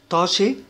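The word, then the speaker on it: Tasche: والمقطع ده على بعضه اللي هو اس سي ها بيتنطق شين، فبنقول طاشي يعني حقيبة، ولما بيجي بعد منه بي بيتنطق شبا، يعني بيتنطق كأنه شين كده، فبنقول شبورت.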